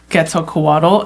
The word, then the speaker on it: Quetzalcoatl: It's definitely a lot of like scholarly works to learn about Quetzalcoatl, and there are still a lot more questions than answers.